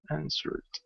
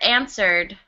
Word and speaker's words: answered: So we don't pronounce this W.